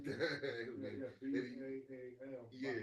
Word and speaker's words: Baal: Yeah, B-A-A-L. Yeah. Baal. Because then they split it B-A-A-L or Baal something. That's how you pronounce it.